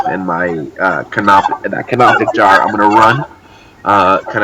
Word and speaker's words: canopic: your like clay like cannot dick that's not the right way to pronounce that organ jar what's that called Copic I think Oh canopic canopic jars inside the jar yeah